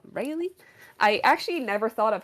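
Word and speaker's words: Raile: Yes, I can be called, or I can also be called Rayleigh. I actually never thought of how to pronounce it, but it's Yeah, R-A-I-L-E.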